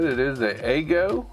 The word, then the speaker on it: Aigo: said it is the eggo i guess the way you pronounce it a igo shadow max cpu i'm